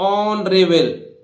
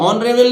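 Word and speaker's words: honorable: ईमानदार इसी तरह देखिए एच के बाद फिर ओ आ रहा है तो एच का उच्चारण यहां भी नहीं होगा तो देखिए ऑन रेबल ऑन रेबल ऑन रेबल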